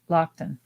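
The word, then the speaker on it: Loaghtan: there too yeah and sarah says it's pronounced and she's and i think she's right too lock lockton lockton so that makes sense if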